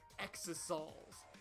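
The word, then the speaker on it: Exisal: dying from internal injuries i hate that it's pronounced exosols it that is a terrible way to pronounce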